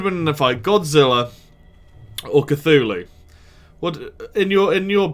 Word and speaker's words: Cthulhu: we're gonna be playing some more Call of Cthulhu actually said it right that time hey Simon